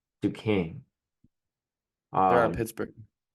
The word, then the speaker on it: Duquesne: Um, how did you pronounce that school's name again? That played VCU today. Oh, Duquesne. Duquesne.